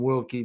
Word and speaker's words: Wilkie: But I call him Wilkie because that's the proper way to pronounce his name.